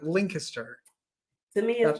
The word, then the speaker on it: Lancaster: I've heard it's like, I always think it's Lynn kissed her. That's how I remember it. Lancaster. To me, That's it's Lancaster, Lancaster.